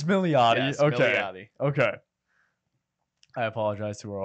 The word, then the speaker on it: Milioti: is it okay so I've been pronouncing it different like every episode that's the correct way it's milot okay I apologize to